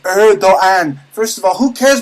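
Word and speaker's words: Erdoğan: to pronounce erdogan's name it's pronounced erogan first of all who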